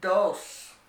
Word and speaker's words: dos: there's no time limit the second number is dos dos and it means two and for number